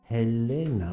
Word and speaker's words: Helena: For my beautiful young ladies, Helena and Sonia. Helena with an H. 제가 이름이 자기가 엘레나라고 E로 시작한다고 그랬는데 그 발음에 따라서 헬레나를 엘레나로 읽고 막 이러니까 얘 헬레나야 이름이.